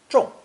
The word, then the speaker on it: 众: Pronounced fourth tone, 众, 众.